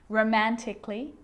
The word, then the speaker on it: romantically: words that end in a LLY like these romantically musically logically so I'm not pronouncing romantically musically and logically cut the AR